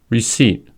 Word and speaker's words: receipt: Secondly, the P is silent in the following words: core, coup, cupboard, raspberry, receipt, pseudonym, psalm. Silent B words.